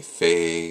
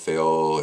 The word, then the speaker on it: Fehu: are equally valid and you'll hear it pronounced differently faye and veo and fehu are all valid pronunciations you'll find with all